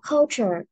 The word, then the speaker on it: culture: À, nếu như mà con nhìn thấy cái từ mà nó có cái gốc là T-U-R-E, mình sẽ đọc là chữ tr này. Tr, tr có gió ra. Tr, tr. Ví dụ như từ culture. Culture. Mặc dù nó là chữ T nhưng nó thuộc cái chữ tr.